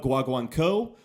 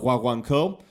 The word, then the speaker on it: guaguancó: the Rumba guaguanco or as it's probably properly pronounced rumba wah wonk oh I'm never sure you know how much a non native Spanish speaker is supposed to get those inflections so it's somewhere in between those two I fully realized that